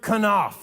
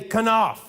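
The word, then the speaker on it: כנף: The first one is the word kanaf. Say kanaf. That was beautiful. You sound like scholars. The kanaf is the corner of the garment, the kanaf.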